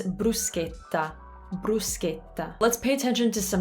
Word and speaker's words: bruschetta: it in italian it's bruschetta let's pay attention to some of the differences here in english i said bra in italian you say brew because brew the u is always ooh and notice how my